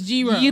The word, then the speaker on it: gyro: you guys know gyro is not pronounced gyro? Yeah, it's gyro. Gyros. So just think of gyros.